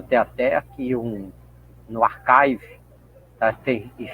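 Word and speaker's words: arXiv: Tem até aqui um no archive, tá? Tem se escreve ar, né? Mas só que a gente lê arve, archive, né? Se você fosse ler em português, mas em inglês você lê arve aqui, tá?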